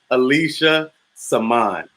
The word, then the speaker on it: Alicia Samaan: And when people actually get it right, I'm like, oh, you pronounced my name right. Alicia Samaan.